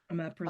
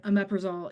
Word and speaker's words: omeprazole: Christy would like an alternative to, omeprazole. oh, I'm not going to be able to pronounce that one.